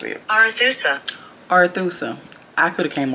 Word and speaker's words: Arethusa: I'm interested to see how Google pronounces it. Arethusa.